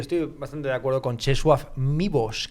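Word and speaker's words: Czesław Miłosz: bastante de acuerdo con chesu mbos creo que se pronuncia así porque la l tachada la es que los polacos se hacen un lío Para qué para qué además voitila es votiva la l tachada es una u o una UV a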